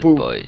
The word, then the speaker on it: buoys: I believe you pronounce it boys. Yeah, buoys. You're right. I read that as a G.